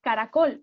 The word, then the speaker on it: caracol: Una palabra que tenga 3 sílabas además sea estrújula, porque caracol es una palabra que tiene 3 sílabas, pero la sílaba tónica está al final, caracol.